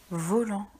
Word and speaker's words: volant: Volant. Attention, le son an est fait par an et il y a un T muet à la fin du mot.